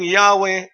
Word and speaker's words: Yahweh: Yahwe Y H W the English spelling Yahwe is now almost universally believed to reflect accurately the ancient original pronunciation of YHW in keeping with common practice today of pronouncing proper names translated from a foreign language with as nearly with as nearly the original vocalization as possible it would be all